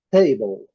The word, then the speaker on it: table: Inicialmente, o uso da letra T, palavras iniciando com a letra T, table. Nós já falamos muitas vezes, está em cinza, a letra E não é pronunciada.